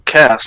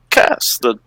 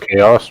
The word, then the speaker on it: Kaas: has only when it has the little line above the A is it pronounced chaos.